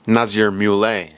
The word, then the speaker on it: Nazir Mule: Let me repronounce. Nazir Mule, apparently, is how you pronounce it.